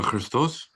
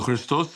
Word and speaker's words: Ⲭⲣⲓⲥⲧⲟⲥ: Crystal. So you're you're elongating the the the um the O right. When I say sound like a S, I'm pronouncing the sema. Okay. The the letter C.